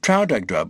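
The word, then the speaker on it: Traldragdubh: It contained a warrant for conducting me and my retinue to Trowdagdrub or Trildrogdrib. for it is pronounced both ways, as near as I can remember, by a party of 10 horse.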